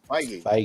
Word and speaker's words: Feige: Feige. President of Marvel Pictures or whatever. Producer. All them. Feige? Okay. Feige.